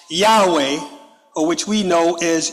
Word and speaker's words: Yahweh: It said that we saw in chapter 1 that Yashareel, or Israel name for God, was Yod-Heh-Wah-Heh, perhaps pronounced Yahweh, or which we know as Yahuwah.